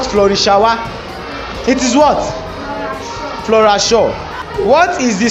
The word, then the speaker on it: Flora Shaw: still getting theirs right because they could not pronounce the names in their given questions properly which woman gave Nigeria her name? Flori shawa Flora Shaw, say it again, Flora Shaw, thank you it